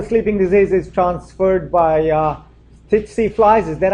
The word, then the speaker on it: tsetse: You guys know the sleeping disease is transferred by tsetse flies.